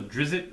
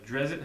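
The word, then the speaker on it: Drizzt: third one is a Legends of drizzit or drit how you want to pronounce it but this is pretty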